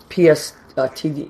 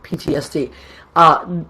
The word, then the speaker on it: PTSD: or whatever it is, PSTD, I think it's I always say it wrong. Post-traumatic. Okay, PTSD. Thank you. I always get it wrong. PTSD.